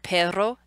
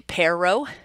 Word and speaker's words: perro: well, but for example, with the word perro, there's that trilled R, where as an English speaker, I'd want to say perro, right? You want to hit that R differently, because that trilled R